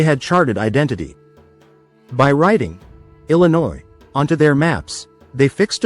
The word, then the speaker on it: Illinois: elegant sound, something like ilinwa. But when the word traveled into English mouths, the French nuance was stripped away. The silent s remained, but the pronunciation shifted, hardening into ill in oi.